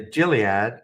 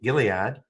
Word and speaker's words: Gilead: here and then the jilad Gilead that's right hard G Gilead 3189 and and it